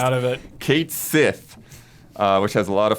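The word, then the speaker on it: Cait Sith: Kate Sith, which has a lot of folks up in arms because it disregards the original Gaelic pronunciation of the mythological creature the name's inspired by, Catchy.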